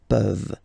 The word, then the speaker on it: peuvent: Okay, as usual, this ending, this ENT ending, you write it, you don't pronounce it. Okay, peuvent, peuvent, peuvent.